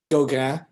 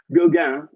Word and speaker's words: Gauguin: Gauguin. Gauguin is correct. Good attempt on the French pronunciation.